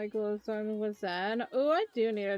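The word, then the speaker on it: Zhen: It sounds like Zane. Zen! Like, you know, a Zen garden.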